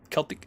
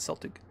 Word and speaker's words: Celtic: Celtic, not Celtic.